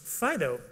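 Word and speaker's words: FD.io: which is part of the FDI o project which is oddly pronounced Fido apparently but we're going to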